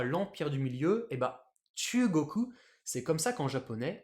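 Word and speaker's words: 中国: Du coup, je lis ça chu, chu, et l'autre c'est koku. Alors, je vais pas lire chu, ça koku. chu koku, je vais mettre un accent, ce sera plus facile à lire. Ce sera chugoku.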